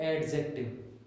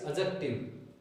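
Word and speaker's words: adjective: विद्यार्थियों, इट्स नॉट एडजेक्टिव, यहाँ D silent है विद्यार्थियों, तो इसका प्रोनाउंसिएशन करते समय ध्यान रखें। इट्स एडजेक्टिव, adverb, verb, then pronoun, then conjunctions, prepositions and interjections.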